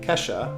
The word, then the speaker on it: Kesha: All right, next we have this is a hard one for me to pronounce, but it's Kesha, like the singer, Kesha.